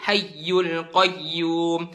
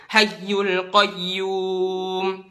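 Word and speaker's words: الحي القيوم: fathah domah atau kasrah di ayat kursi Allahu la ilahailla huwal hayyul Qayyum hayyul Qayyum bukan Allahu la ilahailla huwal hayyul Qayyum hayyul Qayyum tapi hayyul Qayyum dihentakin sedikit setengah detik aja dihentakin hayyul Qayyum terus di Alfatihah iyaka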